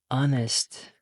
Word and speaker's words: honest: This one an honest man. The H, the H is silent, so it has a vowel sound.